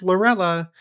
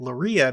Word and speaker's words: Lorilla: My last name is pronounced Lorella, even though it is spelled Lorilla. And I have been pronouncing it Loria because I assumed it was like a Spanish last name.